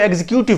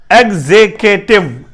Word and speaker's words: executive: अक्सर अहबाब इसे एग्जीक्यूटिव पढ़ते हैं, तो बेसिकली ये एग्जीक्यूटिव नहीं है। ये क्या है? EGG, एग, ZEGKYKTIV, टिव, एग्जेकेटिव, एग्जेकेटिव, एग्जेक्टिव, एग्जेक्टिव। ये एग्जेक्टिव है, ठीक है।